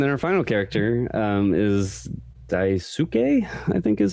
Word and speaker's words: Daisuke: And then our final character is Daisuke, I think is how you would pronounce his name.